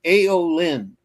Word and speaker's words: Aeolynn: It's Aeolyn, which is spelled Aeolynn.